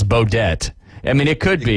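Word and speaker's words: Beaudet: So I don't think it's Baudet. I mean, it could be, but I'm going to go with the French and the T being silent.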